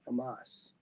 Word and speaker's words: Hamas: and its allies hamus and hola did I pronounce that right Hamas Hamas oh humus is what I was saying H said is